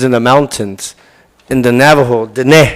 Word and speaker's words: Navajo: of Bigfoot lives in the mountains in the Navajo it's the correct way to say Navajo they